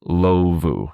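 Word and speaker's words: Indlovu: In Lovu? I'll go with that. Lovu. The D is probably silent.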